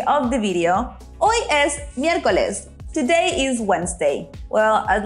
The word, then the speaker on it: miércoles: Miércoles. Did you notice we have an accent there at the E? It's very important to emphasize the E. So it's miércoles.